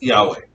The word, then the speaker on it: Yahweh: has consonants only ywh the ancient hebrews pronounce this yahweh medieval english christians call